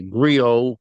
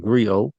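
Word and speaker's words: griot: in the in the Grio Gri style, however you pronounce it. I thought I was pronouncing Grio, but some pronounces gri in the style of the, you know, storytelling uh throughout all African cultures, you know.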